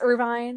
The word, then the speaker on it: Irvine: christus and ritoa and zell and irvine irving i don't know i think it's irvine i say irvine okay i'm gonna say it